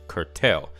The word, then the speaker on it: curtail: 正了一下，它叫做 curtail，重音在后面，curtil。Tail 这个字是尾巴嘛，对不对？